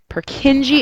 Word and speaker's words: Purkinje: really awesome fantastic names purkinji is how you pronounce the fiber bundle of his is how you pronounce uh the beginning of that nerve fiber so if i were